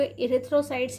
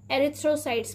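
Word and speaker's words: erythrocytes: तो प्यारे बच्चों, हिंदी की बुक में आपको इरिथ्रोसाइट्स ही लिखा मिलेगा, लेकिन जब हम इसे पढ़ते हैं तो इसमें ए का साउंड आता है, इसे हम एरिथ्रोसाइट्स पढ़ते हैं।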